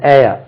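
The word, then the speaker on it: heir: ஹாஸ் ஹி ஹாஸ் அன் ஏர் வாரிசு உச்சரிப்பு ஹேர்னு சொல்லக்கூடாது ஏர் தான் சொல்ல வேண்டும் ஓகே டூ யூ ஹேவ்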